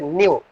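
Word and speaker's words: ν: This is pronunciated as nu.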